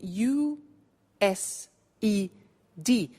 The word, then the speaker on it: used: now this verb used two well it's written u s e d but the pronunciation is used and we'll see that on